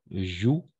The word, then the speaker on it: jouent: Bon, on a fait les adultes jouent moins que les enfants. En effet, joue. En effet, parce que ENT à la fin, on ne prononce jamais. Donc, joue.